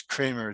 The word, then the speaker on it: Kremer: But it's actually German, so it's Kremer. The E is like an A, long A.